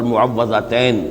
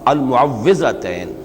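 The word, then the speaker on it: المعوِّذتين: کچھ مشکل ہوتی ہے، عام طور پر معوذتین یہ غلط العام میں اس کا نام مشہور ہو گیا ہے، لیکن اصل میں المعوذتین واو کے زیر کے ساتھ۔ اور اس میں بھی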